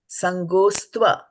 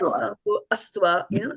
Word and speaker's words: saṅgostva: The apostrophe over here means there is a A, but we don't pronounce it, right? So now you will try saṅgostva. Saṅgostva. Saṅgostva. Right? Saṅgostva. Saṅgostva. So it is not saṅgoastva, don't do that.